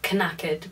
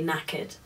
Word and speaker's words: knackered: that written down and it confused me because it has a k at the beginning um so it seems like you would pronounce it kaked but you don't you say knacked I think it has